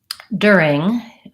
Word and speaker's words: during: question about the word during which of these two sounds is more natural to you darling with a schwa or during with an ooh as in food I don't think I